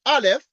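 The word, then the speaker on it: aleph: like this is a is a Hebrew letter pronounced Alf and the canity of R we denote by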